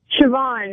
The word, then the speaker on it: Siobhan: Siobhan, it's Irish. Siobhan? Yeah. All right. It almost says Slabo.